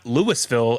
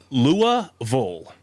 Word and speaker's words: Louisville: not louisville it's not lewisville it's not uh or was it i'm trying to think of some other place that people pronounce it but it's lua vol so vil does not exist because it's funny i